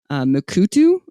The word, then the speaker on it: Mukurtu: So, for example, there's a program called Mukurtu. It's spelled Mukurtu, but it looks like off their website it's Mukurtu.